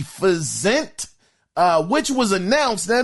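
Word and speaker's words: Physint: projects now first is fent now I ain't never even heard of this game it's called P it's spelled my bad p h y s i n t fent uh which was announced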